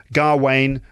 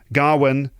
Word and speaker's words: Gawain: and the Green Knight people seem to disagree about how to pronounce the name I've heard garwain Garwin Gawain I say Gawain so the poem is